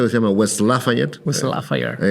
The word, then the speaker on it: West Lafayette: West Lafayette. Hay que pronunciarlo así. Así lo pronuncian los Hoosier, que son los de Indiana.